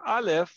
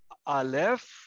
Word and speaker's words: alef: of an ox okay now that is the letter alef and again this is silent silent silent yan okay now may